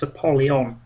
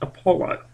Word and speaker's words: Apollo: of the way first I have never heard it pronounced apolon I've always heard it pronounced Apollo um and uh helion or